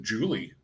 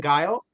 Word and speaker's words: Guile: You could almost pronounce it Julie. Julie, yeah, Julie. People Yeah, call me Julie, Guile. There's a list. I'll be honest. I would have pronounced it Guile, because that's how it's spelled.